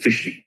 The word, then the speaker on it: phishing: P കഴിഞ്ഞാൽ പിന്നെ PHISHING, ഫിഷിംഗ്. PHISHING. ഉച്ചാരണ ഫിഷിംഗ് തന്നെയാണ്.